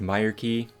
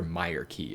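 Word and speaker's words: Myreque: I'm almost fairly certain it's pronounced Meer Key, though I've heard some people say, but I'm pretty sure Meer Key is just the correct pronunciation.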